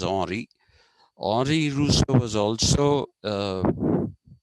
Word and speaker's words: Henri: painters, there's another Rousseau whose name is Henri, Henri, Henry. They pronounce it as Henri.